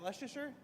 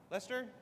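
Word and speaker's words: Leicester: How do you say it? Is that Leasher? Lester. Lester.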